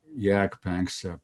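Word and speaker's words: Jaak Panksepp: well there was a great great scientist called jack banks i think he was estonian he lived and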